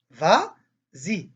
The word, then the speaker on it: vas-y: dit vas-y vas-y tu vas y vas y ça se prononce vas-y par exemple va s'y